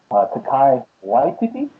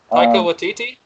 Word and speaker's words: Taika Waititi: Takai Waititi. Taika Waititi? Yes, there you go.